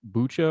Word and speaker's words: Bucha: in a village called bucha or buca i've heard it pronounced both ways we have some really